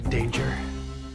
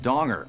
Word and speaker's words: Danger: are you danger Jack danger it's actually pronounced donger it's derived from a Dutch word meaning prudence in financial matters now Jack donger also